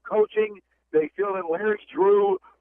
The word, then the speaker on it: Drew: They feel that Larry Drew, it rhymes with Hue and Lue.